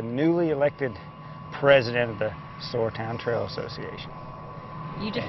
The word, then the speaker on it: Sauratown: He says the most popular pronunciation seems to be Sauratown. But that's the predominant and the one that seems to carry the greatest attachment in terms of localness.